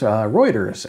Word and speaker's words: Reuters: in the video description in TV Hardware news Reuters and yes that is how you pronounce it trust me is reporting that samsung